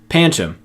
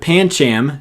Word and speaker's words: Pancham: with this one but Pancham seemed like the correct way to pronounce this to me before I read my handbook and discovered that the last a is soft I don't like this